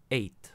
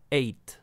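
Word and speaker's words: ate: el pass participó y ten cuidado con este verbo que se escribe en una forma pero ya sabéis que se pronuncia de otra to eat ac el pasado eight y el pass participó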